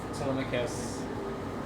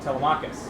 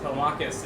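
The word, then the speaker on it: Telemachus: And as Odysius reconciled with Telmicus, or should I say uh you pronounce it the other way? Telmachus. Yes, Telmakus and Terran.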